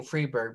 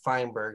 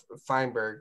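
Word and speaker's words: Feinberg: issue as well so I was saying freeberg but this is fineberg I think is how you say it so from these six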